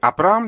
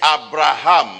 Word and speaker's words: Abraham: Il l'a appelé désormais Abraham. Et le H muet qui est dans son nom, c'est la lettre principale dans le nom de Yahweh.